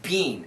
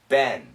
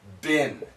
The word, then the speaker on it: been: being the first time really bean and in america if we say bean we think of beans so in america this pronunciation is ben b-e-n and sometimes it's bin b-i-n so it's a little bit shorter bean bin bean the sound goes up ben ben the sound goes down it's been a little